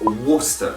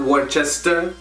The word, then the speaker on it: Worcester: county up there and it's worcester not worchester and remember not worcestershire